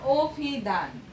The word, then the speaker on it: অভিধান: এক নম্বরে দেখো উদাহরণ সহ আমাদের দেখতে হবে শব্দের আদ্য অ এর পর রস্বইকার দীর্ঘইকার কিংবা রস্যকার দীর্ঘকার থাকলে সে অ এর উচ্চারণ ও এর মতো হয়। যেমন অভিধান, হ্যাঁ অভিধান, আমরা অভিধানটি লিখলাম কি অ দিয়ে, তাই না? কিন্তু উচ্চারিত রূপটা আবার পাশেই দেয়া আছে, উচ্চারণের সময় কি হয়ে যাবে অভিধান।